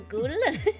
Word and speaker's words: Gaulle: So Gaulle.